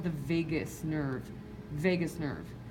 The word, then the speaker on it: vagus: I always remember that by saying, I left my heart in Vegas. That's how I remember it. It's not spelled the same. This is V-A-G-U-S, but you get the point.